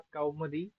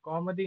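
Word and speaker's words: कौमुदी: से अलग रचना अनुवाद कोमदी इस पुस्तक से अलग कोमदी नहीं है कौमदी ये उच्चारण दोष होता है जो साधारण भाषा में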